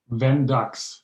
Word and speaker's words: Vendux: And your company name, to pronounce it right, is it Vendux? Vendux, yes. Oh, why did I say Zen? Vendux. Yeah. Vendux, V Okay. as in Victor.